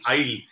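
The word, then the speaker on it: aisle: to the further end okay that is the eye the long passage that is called the eye the spelling is a-i-s-l-e but it is not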